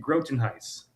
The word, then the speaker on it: Grotenhuis: Yeah, it's Grotenhuis. Yeah. Grotenhuis. Oh, just like it's spelled.